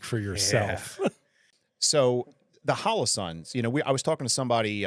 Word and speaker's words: Holosun: So the Holosuns, I was talking to somebody, I think it was today, actually.